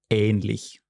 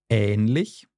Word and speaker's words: ähnlich: There's also a slightly longer pronunciation of the A. Mm-hmm. For example, in the word ähnlich.